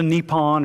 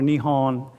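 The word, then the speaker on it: 日本: So Nippon or Nihon is how you say Japan in Japanese, okay?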